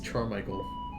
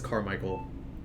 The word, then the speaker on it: Carmichael: a sip every time Tony mispronounces charm Michael nah dude I mean I get that it's Carmichael the charm Michael was